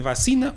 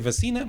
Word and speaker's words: vacina: Há pessoas que dizem vacina, outras dizem vacina, mas a verdade é que todos põem a sílaba no i. Todos dizem vacina ou vacina. Ninguém diz vacina. Ou seja...